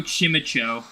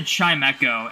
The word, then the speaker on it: Chimecho: I used to call Chimecho Chimicho. And then someone said Chimecho, and I was like, oh my gosh. That is 100% what it's called.